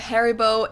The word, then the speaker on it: Haribo: Maybe not everyone knew that Haribo is actually German. We pronounce it Haribo.